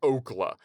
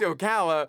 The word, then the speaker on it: Ocala: from Florida and then he mispronounces Okala, Florida as Oakla. He's like, he's like, I was just a poor kid from Oakla, Florida.